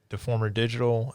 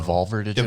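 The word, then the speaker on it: Devolver Digital: Uh, Deformer Digital. Um, oh, getting their name wrong. Deolver Digital.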